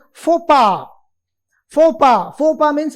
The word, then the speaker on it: faux pas: Next is again a French word which is pronounced as faux pas.